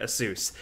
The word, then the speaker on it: ASUS: We have the Asus ROG Ally. Yes, that's how you say it. You actually say it Asus. I know people make fun of me, but I literally asked the company. That's how they say it.